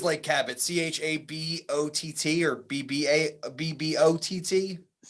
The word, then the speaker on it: Chabot: Anyways, I'm going to say it's Lake Chabot. I know that's mispronounced. Lake Chabot. Yes. Golf course. Can you say that one more time? Lake Chabot. I think it is Lake Cabot. CHABOTT or BBOTT. CHABOT.